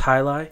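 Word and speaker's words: jai alai: It's spelt like Jaialai. That's Hailai.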